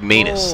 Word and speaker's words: Manus: that manus that's right it's pronounced manus like anus was that i don't